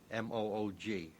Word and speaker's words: Moog: and there it's pronounced Moog in Great Britain English-speaking countries uh people see the double O and they say moo I just happen to